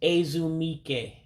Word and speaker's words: ezumike: Now again, if you're trying to use the English pronunciation of the letters there, you would have it wrong because the E's sound like A's and the I's sound like E's.